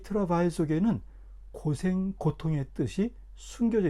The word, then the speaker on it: travail: 잠깐 영행의 원어인 트래블 트래블의 어원을 찾아가 보면은 어 재밌게도 영어 발음으로 하면은 드라바일이라 그러는데이 트라바일 속에는 고생 고통의 뜻이 숨겨져 있습니다.